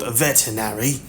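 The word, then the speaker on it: Vetinari: I mean, no offense, of course, but we were a little surprised when the patrician, Lord, veterinary, said Vimes helpfully, putting a slight stress on the first syllable and hearing the growl on Q.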